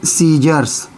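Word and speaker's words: scissors: क्या पढ़ना है एस एस सी और ए सीजर्स र्स क्या हो गया?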